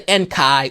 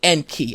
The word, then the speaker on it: Enki: And you say Enki, you don't say you don't say Enkai or Anunnaki, you say Enki, Anunnaki.